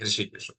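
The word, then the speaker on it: हृषीकेश: इंद्रियों के स्वामी या भगवान के लिए ये उच्चारण है ऋषि केश ठीक है तो ऐसा जब अटेंशन पाई तो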